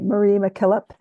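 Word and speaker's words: Mary MacKillop: of Mary mck um I think it's pronounced Marie Marie McKillip um an Australian Saint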